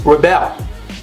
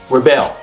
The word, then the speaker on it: rebel: the same thing but when it's a verb you okay reel Rebel all right the stress is on the second syllable but the differen is